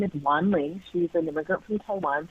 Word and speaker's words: Wanling: She's an immigrant from Taiwan, so her name is spelled Wanling, and people would say things like, speak to Wing Ling or Wang Long, or one time I even remember Wendy, and it was just